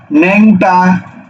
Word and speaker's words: ন্যাংটা: আবার একই ভাবে ন্যাংটা, ন্যাং টয়াকারে টা, ন্যাংটা।